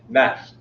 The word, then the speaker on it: gnashed: With hypocritical mockery in feasts, they gnashed. They gnashed. Oh, sorry, G is silent.